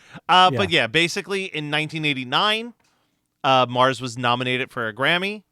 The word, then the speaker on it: M/A/R/R/S: And the only other thing I wanted to mention, Matt, because this group is called Mars, even though it's spelled differently. You know, you hear sometimes